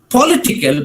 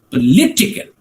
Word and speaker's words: political: But when you say political, right, it is not political, but it is political. Political. The second syllable gets the emphasis.